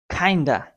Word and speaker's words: kind of: kind of kind of you have to pronounce this like kinda kinda kinda is the abbreviated or shortcut form for kind of in spoken English you have to say